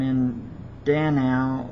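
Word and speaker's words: Mindanao: o this year on the Philippine island of M Dano one of our staff along with our Philippine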